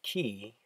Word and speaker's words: Quay: shades this is from the brand pronounced ki Australia and the style